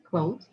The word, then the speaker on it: clothe: Clothes. To clothe or to clothe? To clothe. To clothe with the sound. Oh, with the sound. Yeah. So it's voiced. Clothe.